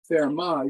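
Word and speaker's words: Fermat: arithmetic which is called fairmont's little theorem so this is theorem 1.24 therma is french they don't pronounce the t therma's little theorem and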